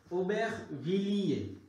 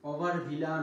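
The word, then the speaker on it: Aubervilliers: আর এখানে একটা এস আছে। ফরাসি ভাষার নরমালি আপনার একটা বড় একটা অংশ যদি লাস্টে কনসোনান্ট থাকে সেটা উচ্চারণ হয় না। আপাতত এটাকে আমরা বিনা দাওয়াতি মেহমান বলে চালিয়ে দেব। তাহলে উচ্চারণ হইল কি? ওবেখ ভিলিয়ে, ওবেখ ভিলিয়ে, ওভার ভিলা না, ওবেখ ভিলিয়ে।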